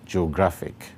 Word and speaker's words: geographic: The last one, geographic, has three syllables as well. When the word is broken into syllables that combine to form it, we have geo-gra-fic. And because the emphasis is on the second syllable, it is stressed as follows. You can see it there, geographic.